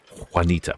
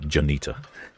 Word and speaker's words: Juanita: I always forget that there's a heavy Spanish influence in some of the names in the states. I always think they might be pronounced in a French way. Particularly the J's. So, there was there was a park near where I lived in Seattle called uh Juanita Park, but I called it Janita.